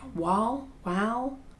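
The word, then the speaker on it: Wahl: It's W-A-H-L. How do you, wow? Wow.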